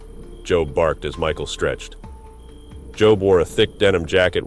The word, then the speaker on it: Job: Michael slowly rose to his feet as he saw Job approaching. Job, pronounced like Job from the Bible, a spelling abomination that had irritated Michael since they were children.